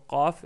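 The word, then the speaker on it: قاف: La lettre Qaf est plus abordable à prononcer. Pourquoi? Je vais vous dire. Euh, il faut savoir que la première chose, que la lettre Kef et la lettre Qaf, ils ont le même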